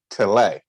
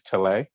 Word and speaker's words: Tillet: tell it but also i heard people say maurice tillay sort of like how you would have like a filet even though it has two l's they still they will pronounce it maurice tallay okay okay so um